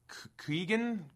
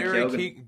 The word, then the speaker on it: Keoghan: I like I always mess up how to say his name, but it's Keegan? Oh, Barry Keoghan.